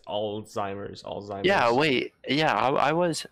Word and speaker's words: Alzheimer's: either alts either yeah like you you pronounce the z but it just doesn't fit right all right there we go pronunciation all the time oh my god oh my god like this guys was weird how's it spelled a-l-z-a-l-z-h-i-i-m-e-r so there's no there's not even a t in it alzheimer's yeah wait yeah